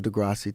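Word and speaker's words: deGrasse: to Neil Degrassi Tyson I don't know if he's just saying his name wrong on purpose I've never heard someone pronounce it like that I guess he's just using the Spanish pronunciation which is not correct because Neil degrass Tyson isn't Spanish so I saw him at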